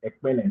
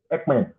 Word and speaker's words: Ojekhekpen: For correction's sake, Madam pronounced my surname as Ekpen. No, it is Ekpen. That's to put a record straight.